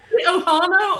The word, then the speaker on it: ohana: Ohana or ohana?